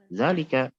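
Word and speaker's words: ذٰلِكَ: Zalika. Jadi nulisnya kita setelah zal langsung lam. Zalika. Tapi bacanya zalika. Bukan zalika, tapi apa? Zalika. Ada alif setelah zal namun tidak ditulis.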